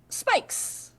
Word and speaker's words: Spikes: Okay, I think my next goblin is going to be Spikes, but the S is silent. It's a Spike.